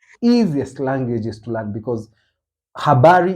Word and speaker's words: habari: languages to learn because habari h h a b a r iari m z u r i I like the way the word is written is the way you pronounce it there's no much really